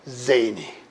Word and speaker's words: zany: 그리고 요거는 강세가 없으니까 Y 끝에 Y는 0, 2번이 2번으로 된다고 그랬죠. 0,2번에서 0자 띄고 2번으로 된다고 그랬으니까 이거는 zany 이렇게 발음 되겠습니다.